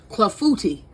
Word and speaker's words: clafoutis: Let me look at this again, cause I don't want to mispronounce it. Clafoutis.